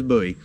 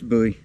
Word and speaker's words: Bowie: Bowie or a Bowie I keep pronouncing my Bowie incorrectly is Bowie you know David Bowie Jim Bowie so yeah it's Bowie but nevertheless stuff I could